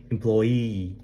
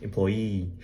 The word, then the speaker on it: employee: employee 강세가 어디 있냐면 맨 끝에 있어요. 이거 놀리는 거 같지? employee.